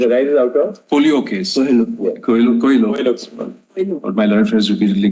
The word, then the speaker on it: Coelho: It arises out of the Colio case, which is expressly referred to. It arises out of? Colio case. Coelho.